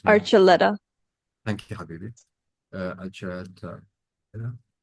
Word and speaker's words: Archuletta: I would just wait for his name to come up because I can't pronounce it. Excuse my ignorance. Hakim Archuletta, and Maham can correct me. Archuletta.